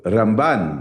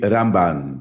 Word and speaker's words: Ramban: Na mesma época que viveu Rambam, no sul da Espanha, viveu Ramban na região de Barcelona. A diferença é só o N e o M final, então Rambam e Ramban.